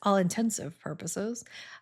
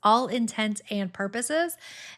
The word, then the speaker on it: all intents and purposes: So it's all intent and purposes and not all intensive purposes.